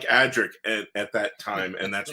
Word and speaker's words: Adric: We all used to pronounce it Andrex because there was a toilet tissue called Andrex, and so it was.